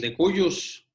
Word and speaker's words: de cujus: Es el de cuyus, se escribe de cujus, ¿verdad?